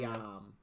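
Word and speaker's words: Yeom: Yom. Yeah. Yom? Yep. Yom. Yom. Y-E-O-M. Yo, I butchered someone's name Yo.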